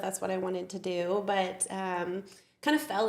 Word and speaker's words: Doak: And your last name is. What is the best way to pronounce it? Do like an oak tree with a D.